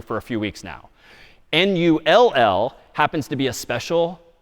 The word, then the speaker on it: NUL: confusingly, this null value NULL again humans decades ago decided that one would be called NUL, other humans decided this new thing would be called NULL. NUL pronounced null, it's just a null terminator backslash zero.